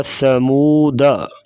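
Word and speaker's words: ثمودا: جو لفظ ہے سمودا، اس کے ساتھ جو الف نہیں پڑھا جائے گا، بلکہ اس کو پڑھا جائے گا سمودا، سمودا نہیں پڑھا جائے گا، وقفاً سمودا پڑھیں گے، وقف کے بغیر پڑھیں گے تو سمودا۔ ملئی ہی لکھا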